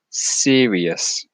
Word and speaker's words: serious: If you see words ending in I-O-U-S, try and not pronounce the O as much.